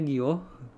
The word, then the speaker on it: guyot: dan pulau vulkanik jadi guyot itu bacanya Gio maaf tadi saya salah ya Gio merupakan gunung laut berpuncak